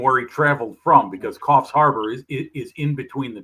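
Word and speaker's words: Coffs Harbour: Coff Harbor. No, no, no, no, no. I mean where he was going for the show and where he traveled from because Coffs Harbor is is in between the two.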